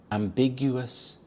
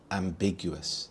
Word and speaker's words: ambiguous: Ambiguous. Ambiguous. The stress is on the second syllable. Big. Ambiguous.